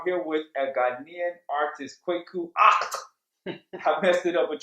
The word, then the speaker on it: Kweku Aacht: I am Kweku Aacht.